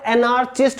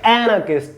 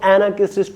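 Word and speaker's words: anarchist: Next है एनार्किस्ट, काफी सारे लोग इस वर्ड को एनार्चिस्ट बोलते हैं, ठीक है, इसकी सही प्रोनाउंसिएशन होगी एनार्किस्ट, ठीक है, जो आर है वो इसमें साइलेंट ही रहता है, तो एनार्किस्ट को बोला जाता है।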